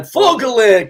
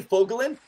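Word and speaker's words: Fogolin: man yeah and Lee uh how do you pronounce his last name foglin man fogelin come on actually it's funny fogelin so when the Oilers came into Edmonton as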